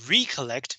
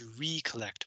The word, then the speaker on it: recollect: So I pronounce this recollect, but if you pronounce it recollect, it just means remember, as in recollection, which means memory. So pronounce it differently, it means different things.